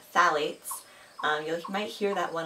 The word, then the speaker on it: phthalates: second bullet point the pH where it is pronounced phthalates you might hear that one a lot in